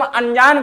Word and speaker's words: अनजान: लेकिन होता क्या है जब हम अनजान का उच्चारण करते हैं तो हमारे मुख से किसी भी प्रकार का ना का विशेषता उच्चारण नहीं होता है। लेकिन नासिका के माध्यम से स्वर उच्चारण जरूर होता है।